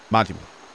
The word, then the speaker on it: Majima: The Jima in Seijima and Majima are both pronounced the same, soft eyes. Seijima, Majima.